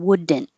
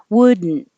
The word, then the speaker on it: wouldn't: and hold it there and go just make the in noise so you won't hear d as in wouldn't and that's okay if you if you do say it like that that's not wrong it's just more native speakers are going to take a shortcut and be a little more lazy and not say it wouldn't wouldn't and couldn't same vowel